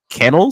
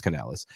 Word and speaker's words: Canales: Panthers hire bucks OC Dave kenel is that how you say his last name I thought it was can Canales Canales I said it wrong it's Canales um as their head